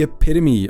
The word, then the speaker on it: epitome: Dooku saw Makashi as the epitome [pronounced eh-PIT-oh-me] of lightsaber combat, and he looked down on most of the other forms, even while he was still a Jedi.